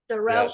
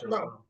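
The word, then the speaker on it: Xarel·lo: So it sounds like SH, Jarello. Jarello.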